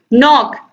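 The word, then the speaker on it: knock: नॉक, नॉक means खटखटाना होता है, door, तो यहाँ पर आप देखिए के साइलेंट है।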